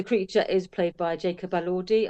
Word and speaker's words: Elordi: And the creature is played by Jacob Elordi. I believe that's how you say his name. That's how everybody say it. Elordi. I've heard. That's the only way I've heard this pronounced.